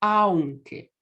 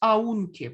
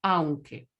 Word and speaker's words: aunque: Es aunque. Con esta pronunciación. No es aunque, por el amor de Dios, es aunque. Porque A es una vocal fuerte, U es débil.